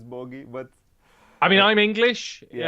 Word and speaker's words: Booghy: me to be on Booghy's Place, which is the highlight of my career thus far. It's Booghy. Booghy is not Booghy. It's Booghy, but I mean, I'm English.